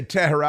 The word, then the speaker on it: Tehran: I say Tehran. I like to add a syllable to it.